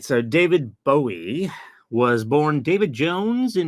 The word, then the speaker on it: Bowie: is going to be space odity by David buoy sorry David buy uh or David Bowie different people will pronounce it differently I believe it's actually supposed to be pronounced Bowie David Bowie I always pronounce it wrong myself